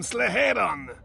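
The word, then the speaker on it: Sleheyron: and they can't get fuel from slaveron fuel reserves building up there that's how it's pronounced then who is hijacking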